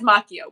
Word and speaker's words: Macchio: Oh, he says Macchio, which you can say my name either way.